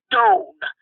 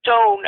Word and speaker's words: Doane: Doane. That's spelled Doane.